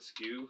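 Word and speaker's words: SKU: the Dewey Decimal System yeah right yeah the skew SK SK yeah that's how it's pronounced actually that would be the way to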